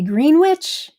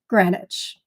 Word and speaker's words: Greenwich: they would pronounce this Greenwich with the a short e and taking the w out.